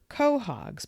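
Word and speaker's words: quahogs: Hard-shelled clams called Kahhogs and pronounced as co-hogs by Cape Cotters were and are harvested in deep water with wooden handled rakes up to 56 ft in length.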